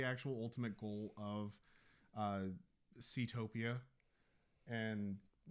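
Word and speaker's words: Seatopia: I would say that they they really didn't do well with the uh Ctopia. Mhm. Did I say it right? Yeah. Ctopia.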